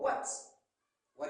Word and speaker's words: what: Quand je dis Y, W-H, Y, or what is your name? Le H ne se prononce pas.